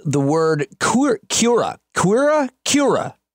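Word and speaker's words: Kia ora: where I learned the word court Kira Kira Kira not queerer Kira is like a greeting so I tried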